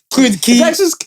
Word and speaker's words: Queens Quay: Queens Key. It's Key.